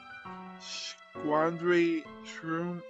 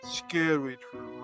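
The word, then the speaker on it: Scaredy-shroom: Now we got the Squandry Shroom, is that how you say it? Scary Shroom, okay, there we go.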